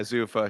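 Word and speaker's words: Zuffa: lot of stock in is this Zafa, is that how you say it? Zafa Boxing. Zufa boxing. Zua. Yeah, Zufa. Sure.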